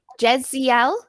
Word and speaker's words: Jessiel: about you i'm good do i say your name like jessiel yes great pronunciation nice to meet you i'm